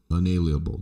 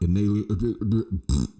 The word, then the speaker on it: unalienable: an unalienable right and that's how you pronounce it Joe analienable right that's what the Constitution says unalienable not inalia people you you